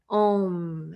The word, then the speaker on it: Om: m and that is the vibration ohm so sometimes you see that as an o and m but it's also spelled a u m so these are the three syllables we use for the vowel sound om and i'm going to